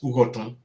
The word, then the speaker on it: Ughoton: We know it as UGHOTON, and that is how it should be pronounced, and that is how it should be called, not GELE GELE.